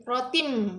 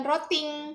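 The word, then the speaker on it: بِحِجَارَةٍ: Bihi rotim, bukan roting atau rotin, tapi rotim.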